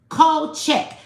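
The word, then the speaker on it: Kulczyk: That K U L is cold, right? CZ Y K is check. Cold check.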